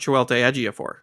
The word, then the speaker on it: Chiwetel Ejiofor: I'm pretty sure it's pronounced Chiwetel Ejiofor, which sounds like a made-up name for Benedict Cumberbatch.